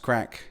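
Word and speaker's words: craic: Craig pronounced crack.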